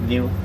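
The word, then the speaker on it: gnu: They have another name in Swahili, spelled G-N-U, pronounced new. They get that name from the noise that they make.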